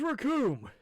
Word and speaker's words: Raccoon: The name's Raccoon. It rhymes with doom, and you'll be meeting it all too soon.